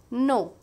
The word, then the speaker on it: know: don't make spelling mistake no k n o w no k is silent here past tense is new